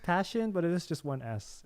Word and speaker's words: Pasion: to figure out oh so it's pronounced passion but it is just 1s it's easier to say it's not Shawn Shawn Shawn there you